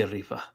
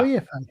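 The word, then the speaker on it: Rifa: REFA. Oh, yeah. Okay. No. Yeah, it's like the Latin pronunciation Refa, not Refa.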